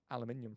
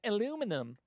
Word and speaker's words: aluminium: It's like Americans can't say uh aluminium properly. They go aluminum. Aluminium.